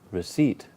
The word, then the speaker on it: receipt: intuitive intuitive to 18 receipt that's it the seat II it's like it's a bit like reseat now I'm seat here